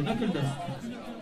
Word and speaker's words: Knuckle Dust: Vous savez le prononcer? Ouais. Vous savez pas le prononcer. C'est Knuckle Dust.